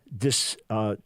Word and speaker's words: dysbiosis: a chapter, super supplements for leaky gut and dysbiosis. How do you pronounce that?